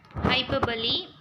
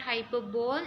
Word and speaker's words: hyperbole: Hyperbole, it is not hyperbole, we have to pronounce it as hyperbole.